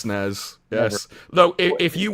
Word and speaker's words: SNES: No, there's a Super NES, SNES, but it's never the SNES. Never. It's the SNES.